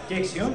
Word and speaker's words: Dexion: Dexion, yes.